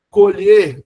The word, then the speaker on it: colher: Colher, verbo, olha o e fechado.